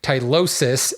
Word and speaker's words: tylosis: called on my pronunciation tylosis is the plural here or excuse me tylosis s i is the